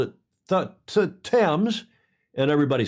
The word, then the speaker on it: Thames: now, but he's saying, is it pronounced, because I just pronounced the word for the street, Thames, Thames. And in Newport, Rhode Island, it is pronounced Thames and has been since the 1700s. Really? Yeah. And of course, it was originally pronounced Thames. All the Brits on here will correct me if I'm wrong, but originally it was pronounced Thames in the UK until one of your kings came along.